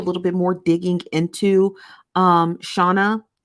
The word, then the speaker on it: Shona: What I'm going to do is I'm going to do a little bit more digging into Shauna or Shona. I think it's pronounced Shona.